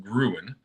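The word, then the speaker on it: Grön: The new Halloween edibles from Grown, pronounced Gruen, continue the company's history of seasonal product releases.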